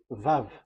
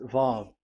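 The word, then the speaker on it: ו: So the word, the shape Vav is really pronounced V, like Vogue. That is it, pronunciation. So here in this side, it's pronunciation. This is pronunciation. So according to the old Hebrew word today, those who, the owner of the word, I mean, so it's a V. So don't change it into W, and you will say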